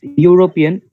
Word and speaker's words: European: because it's European. Yes, ma'am, European. The Y pronunciation.